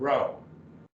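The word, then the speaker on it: ρω: e p sound rho it kind of looks like our english r but it's a row and this will be row and r sound as in run sigma this is kind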